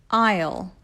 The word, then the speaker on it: aisle: Aisle, aisle.